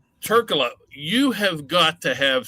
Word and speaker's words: Trklja: They sometimes, because the J is silent, they sometimes say the J.